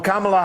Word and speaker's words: Kamala: About Kamala Harris, and yes, that is the correct way to pronounce it.